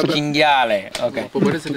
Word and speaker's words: cinghiale: It's cinghiale.